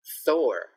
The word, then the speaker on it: Thor: For TH, we need to have our tongue out. So don't be shocked when you see my tongue. Throwback Thursday. Throwback Thursday. Another one, Thor.